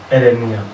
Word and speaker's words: erenia: Here we have erenia, which is 9. Erenia is spelled as ERENIA.